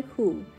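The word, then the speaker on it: 蝴: In South China, Hunan, the other word for butterfly, Hu, is pronounced exactly like the word Fu means happiness.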